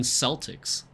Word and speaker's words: Celtic: Oh, there is a Scottish football team called Celtic, which has a soft S sound.